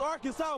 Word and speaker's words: Arkansas: got that wood and that's how you pronounce the name arcan it's Arkansas baby in 2014 the SEC